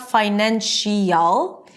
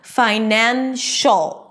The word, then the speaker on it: financial: Now, when this suffix appears after a shh sound, then you don't hear this eol sound as in financial, right? It's not financial. You don't hear two vowels, the shh and the connect and it feels like there is nothing in the middle there. It's like they're best buddies and they don't want anything to hold them away from each other. Okay? So financial it's not social.